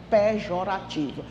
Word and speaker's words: pejorativo: Não existe a palavra pejorativo, viu? Tira esse R, pelo amor de Deus. É pejorativo.